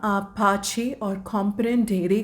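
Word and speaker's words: pace: English का ना पेस लेकिन उसको इटालियन में कैसे प्रोनाउंस करते हैं पाछे पाछे पाछे तो आप इसको यूज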